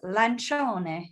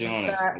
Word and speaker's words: Lancione: How you pronounce it is Lancione because it's Lancione. What was that close? Italian. Yeah, well, yeah, because I feel like the CI, everyone says like CO, but it's like in Italian, it's CI is like a ch sound.